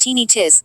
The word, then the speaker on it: tinnitus: heart palpitations lethargy tinnitus tinnitus pronounced teeny tiss or ringing in the